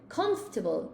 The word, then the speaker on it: comfortable: I say comfortable. It's very comfortable. It's almost like CUMF. Comfortable. I almost say it like this. Look. Comfortable. Like, that's how I would say it, Cassia.